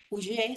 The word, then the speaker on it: Oller: Puebla, porque, por ejemplo, José María Oller, Ullé se pronuncia, es un catalán, él